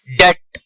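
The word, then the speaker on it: debt: B silent है, subtle, डेट, डाउट, इनमें B silent है।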